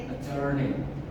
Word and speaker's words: journey: Ini bacanya apa? Ajur. Ya? Journey. Journey. Iya, journey. Journey. Jadi iya. Journey. Jangan dibaca ajur nih.